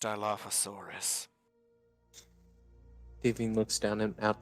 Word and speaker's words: Dilophosaurus: That's pronounced Dilophosaurus.